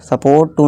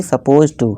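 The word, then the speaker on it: supposed to: इसके प्रोनाउंसिएशन पर आप ध्यान दीजिए, यहाँ पे लिखा मैंने सपोज्ड टू। ठीक है दोस्तों, सपोर्ट टू नहीं, सपोज टू।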